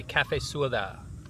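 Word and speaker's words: cà phê sữa đá: In Vietnamese, you say cafe suda. Cafe suda. Cafe. They spell it c a p h e, but like cafe coffee.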